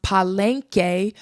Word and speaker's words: Palenque: She was able to see the Palenke. She saw the community surrounding the AfroColian people and their culture. Another thing was that she was able to see murals. And even though this place is pronounced paleenke, there is the word p a l e